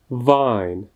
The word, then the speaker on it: vine: Zatímco hláska V se vyslovuje jako typické české V, jako například ve slově výslovnost, zatímco to dvojité V vyslovíme tak, že vyšpulíme rty, jako bychom chtěli například někoho políbit, anebo říct U, hlásku U, ale místo toho potom řekneme V.